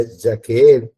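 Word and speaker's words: יחיד: Que se utiliza por uno, es la palabra, se la deletreo, Y-A-C-H-E-E-D, ¿no? Que se pronuncia Yaqueed.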